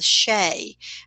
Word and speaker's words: Sidhe: Those mounds were called the Shay, SIDHE. We wouldn't pronounce it that way, but that's how it was pronounced in the ancient world.